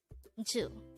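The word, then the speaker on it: 주: Hangul word number 224 this is pronounced as just one syllable which is two again it's two foreign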